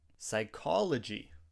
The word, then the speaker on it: psychology: Psychology. This is a hard word to pronounce. Repeat after me. Psychology. Psychology. The P is silent in this word.